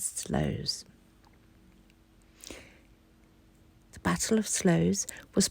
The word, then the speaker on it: Sluys: It's Sluys. And I looked it up, and it says online you pronounce it as Slows.